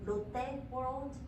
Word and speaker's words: Lotte World: Another thing is, it's pronounced Lotte World.